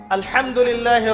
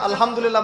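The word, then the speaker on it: الحمد لله: আলহামদুলিল্লাহ ভালো আছি। তাই না? কেমন আছেন? আলহামদুলিল্লাহ ভালো আছি। তো আলহামদুলিল্লাহ না বলে সে বলেছে আলহামদুলিল্লাহ। যে হা এর উচ্চারণ পরিবর্তন হয়ে গেছে।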